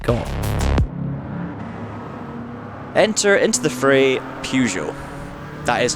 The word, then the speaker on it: Peugeot: Enter into the fray Peugeot. That is how I pronounce it, by the way. I'm Scottish, we all pronounce it Peugeot, not Peugeot.